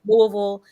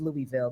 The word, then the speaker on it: Louisville: of Louisville Kentucky again that's how you know I said it right sounds like my mouth as well but it is Louisville in comparison to what D'Angelo says which is Louisville but anywho but yeah